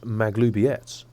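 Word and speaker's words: Maglubiyet: very camp she reports they've abandoned their god mcgladiot in favor of someone that's pronounced the absolute the scandal it's pronounced maglubietz actually goblin superstition don't worry about it but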